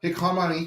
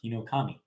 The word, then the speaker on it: Hinokami: All right, look forward to your pronunciation here. Kimetsu no Yaiba - the Hikamani Chronicles. Hinokami.